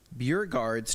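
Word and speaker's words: Beauregarde: We have Neil says Violet Beauregards turned Right.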